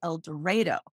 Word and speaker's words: El Dorado: it's sound strange in El Dorado they actually pronounce it el doro took me a long time to get used